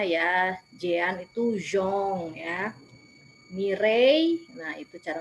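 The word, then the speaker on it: Mireille: membaca bahasa Prancisnya ya Jean itu zong ya mirei Nah itu cara membacanya seperti itu mirei Dan Jong memiliki anak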